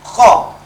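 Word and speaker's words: خ: Kha ini termasuk di antara huruf isti'la. Jadi ketika dia diucapkan baik berharokat maupun dalam keadaan sukun, lidah kita terangkat ke atas.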